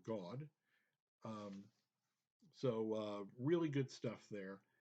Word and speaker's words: Gad: Simeons, Goths or Goths, which is Gad, which is Hebrew, and pronounced in Hebrew God.